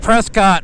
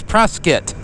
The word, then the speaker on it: Prescott: Yes, I used to think Prescott was pronounced while Prescott. Till an Arizona local through a a summer dose, yes, said, "No, it's Preskitt."